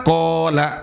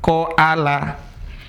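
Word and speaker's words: قَالَ: Qola. Ini kok dibaca panjang bukan dibaca qoala.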